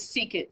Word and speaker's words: secant: begins with s so SEC is secant so you flip-flop the